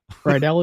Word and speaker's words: Rydell: Anyway, 2 helpers, Brady and I'm going to just say it the way it's spelled, Rydell. Rydell is correct.